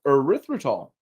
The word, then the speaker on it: erythritol: but I'm going to have a go erythritol erythritol so I'm going to call it erythritol and this zero calorie